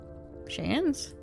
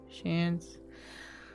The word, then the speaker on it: Chance: Pronunciation of chance is the same as chance but with a sh at the start. Oh, okay. So that's like sans. Sans. Shans.